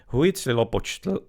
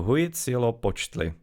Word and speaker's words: Huitzilopochtli: The tz is supposed to be practically like a s in there, the z. Z. Ch is practically ch and x is supposed to be like a sh.